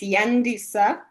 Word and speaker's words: Yandisa: you so much firstly you pronounce my name correctly it's yandisa so I am from